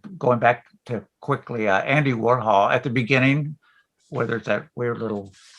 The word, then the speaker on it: Warhol: I think that was actually Ken Scott, the producer, was introducing the song, and he mispronounced Warhol And so David Bowie Oh. corrects him. He's just like, it's Warhol. Warhol.